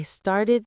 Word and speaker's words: started: This is the id ending again.